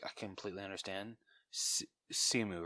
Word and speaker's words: Simu: Simu, right? That's how you say his name. Yeah. Simu.